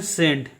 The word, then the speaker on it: scent: इसमें भी देखिए सी जो है एस के बाद आया है इसलिए सी क्या होगा? साइलेंट होगा। इसको पढ़ते हैं सेंट, SCENT का उच्चारण करते हैं सेंट, सेंट का मीनिंग होता है सुगंध, ठीक है।